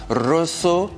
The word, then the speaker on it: Rosso: Le Rosso 4, comme ça on le prononce en italien, c'est le produit pour la route, exactement.